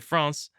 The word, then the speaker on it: France: Please join me in welcoming, well, at least according to France, my kindred spirit, France Daviault.